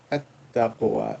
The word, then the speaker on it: التقوى: Is a sun letter, the whole like a shams, so the lam will not be pronounced.